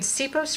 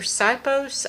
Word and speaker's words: Sipos: You know, I'm going to read you a poem by Irene Sipos or Sipos.